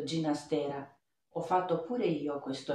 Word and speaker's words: Ginastera: in effetti ogni tanto sveliamo la pronuncia del cognome del compositore dicendo ginastera ho fatto pure io